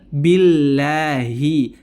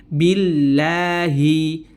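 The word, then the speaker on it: بالله: menyempurnakan harakat ya jadi hati-hati jangan sampai menebalkan huruf ba pada lafaz Billahi Bi Bi sempurnakan kasrahnya Billahi Billahi Bi Bi Nah kalau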